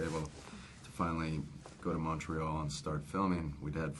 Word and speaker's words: Montreal: that we were able to finally go to Montreal and start filming, we'd had 4 weeks before